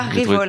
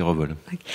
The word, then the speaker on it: Revol: Pas Révol, parce que moi j'ai toujours dit Révol. Je sais que certains disent Révol, je ne me l'explique pas vraiment, mais la vraie façon de le prononcer, c'est Revol.